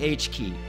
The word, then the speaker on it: H.ki: can just press the H key. And you notice the similarity? H.ki is pronounced H key, which is the hot key you press to create a moment.